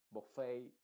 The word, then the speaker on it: buffet: lo más importante acá es que la et en estas palabras que son de que vienen del francés se están pronunciando con la letra original a que sería e baley o sea Olvídate en estas palabras exclusivamente eh olvídate de la et y ponle una a b buffet chalet proch